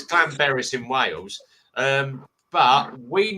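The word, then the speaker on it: Llanberis: this year uh but we normally go to Clan be it's actually pronounced Clan beis there two l so it's Clan Baris in Wales um but we normally stay at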